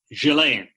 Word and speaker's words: Ghislaine: I mean, now, by the way, Maxwell, how do you pronounce her first name? Ghislaine.